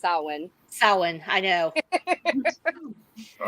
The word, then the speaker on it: Samhain: of Halloween Oh I thought Sammy Hagar no Sam Hayne is Halloween it's actually pronounced salwan Salin I know all right well in one